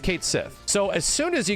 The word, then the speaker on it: Cait Sith: 20 years has presented it's like dude it's Kate Sith you're just trying to pronounce it like the Japanese way to the point where I learned though the Japanese way technically tries to keep the same like phonetic language like the way you you pronounce the name a bit more correct and the English version seemingly just tossed that out and they're like oh okay Sith right it's just Kate Sith so as soon as